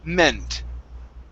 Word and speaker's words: meant: instead of mint okay this is going to be a short e sound meant okay very good and